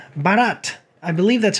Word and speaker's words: Bharat: then most recently did a foreign film called Bharat. I believe that's how it's pronounced.